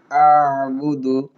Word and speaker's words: أعبد: লা আ'বুদু আ'বুদু আইন হলকের মধ্যখান থেকে উচ্চারণ হবে আ'বুদু।